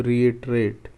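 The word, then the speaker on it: reiterate: सो इसका जो प्रोनाउंसिएशन होता है इसको आप इस तरीके से बाइफरकेट कर सकते हैं. री इट एर एट. सो रिएटरेट, ये इस तरीके से प्रोनाउंस होता है.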